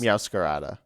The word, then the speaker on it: Meowscarada: So we have uh, Meows Scarada. Is that how you say it? I think it's Meowscarada.